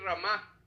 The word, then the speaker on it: Ramá: ¿Qué quiere decir ramá? Con acento en la a.